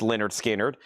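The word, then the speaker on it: Lynyrd Skynyrd: Leonard Skard Pronounced Leonard Skinnard.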